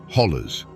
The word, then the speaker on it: hollow: They are ancient eroded walls that create a labyrinth of valleys, ridges, and hollows, or as the locals say, hollers. In the 1950s, a hollow was more than just a geographical feature.